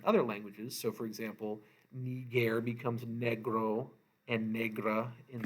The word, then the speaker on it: niger: That I is a long I, so we're going to say this with an E sound. Niger, nigra, nigrum, and this means black.